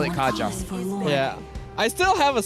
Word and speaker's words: Kaja: oh yes right it's it spells out Kaja but it's pronounced as Kaya and then everyone just refuse to call it Kaaya so we just call it Kaja yeah I still have